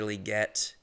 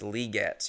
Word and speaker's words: Legette: told you on Xavier liette and that is how you say his name it's liette you got to say the e sound which is tough I people say Legette